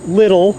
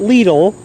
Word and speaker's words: Lidl: or lethal or lidl yes it is pronounced little not lethal in the us as much as people think it's lethal it's not because they have overhead